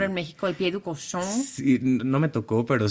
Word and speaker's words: Cochon: en México, el Pied du Cochon. Sí, no me tocó, pero sí supe Pronuncié que bien sí, cochon.